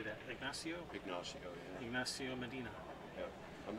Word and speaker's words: Ignacio: Ignacio, yeah.